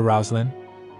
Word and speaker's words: Roslyn: He said, let's call her Roslyn. That's how you pronounce the name Roseline in the East.